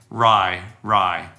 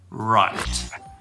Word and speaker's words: right: get that T and make sure there's some breath coming out when you say right. Don't say rye, rye. You want to get right.